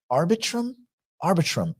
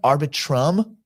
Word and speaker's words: Arbitrum: The fund may also use Polygon and Arbitrum, I'm not sure how we pronounce that, networks for certain, Arbitrum, like arbitration, Arbitrum.